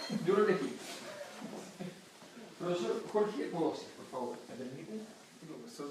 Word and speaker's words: Mpodozis: Si usted quiere buscarlo en internet, no le escriba con P, porque se pronuncia Podosis, pero empieza con M. Correcto. M. Podosis.